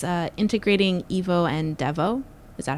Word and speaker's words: Devo: It's uh integrating EVO and Devo. Is that how you pronounce it or do I probably say DVO?